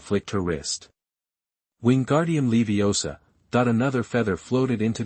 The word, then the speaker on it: Leviosa: Besides, you're pronouncing it wrong. It's Leiosa, not Leiosa.